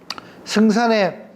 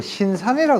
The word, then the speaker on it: 승산: 승산에 이분 여기 계시는 분들은 승산이라 안 그러고 전부 신산이라 그러더라고. 신산. 예. 네. 그러니까 승산인데 처음에 제가 못 알아들었다고요. 아니 분명히 승산인데 왜 자꾸 신산이라 그러나. 근데 발음상 이제 그렇게 되는가 봐요.